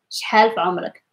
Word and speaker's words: شحال في عمرك: So make sure for the half to open your mouth, شحال في عمرك, just to get the correct pronunciation of it. شحال في عمرك.